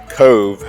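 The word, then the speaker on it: Cobh: Uh they don't have the letter V in the Gaelic language, but the BH when put together makes the V sound.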